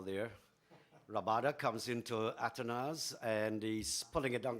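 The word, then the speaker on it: Athanaze: down the leg side or should I say atones yeah I think uh We've we've had various pronunciations for his name but he himself has said his name is called atones so good to hear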